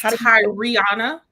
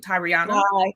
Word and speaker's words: Tariana: That's Tariana. We say the whole name, Tariana.